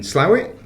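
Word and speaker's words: Slough: Um I'm down at Experience Community in Slowit. That's how you say it isn't it? Locally allegedly. We're not local but we'll take your word.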